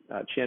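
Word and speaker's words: Qin: we use for china chin is pronounced chin like china all the while the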